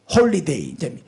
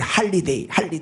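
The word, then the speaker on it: holiday: 그래서 미국은 방송도 텔레비나 뭐 라디오나 어디도 해피 홀리데이, 이제 그 홀리데이인데 미국식 발음은 오는 별로 안 써. 그 R을 많이 쓰거든. 그 할리데이, 할로데이 이렇게 말하죠.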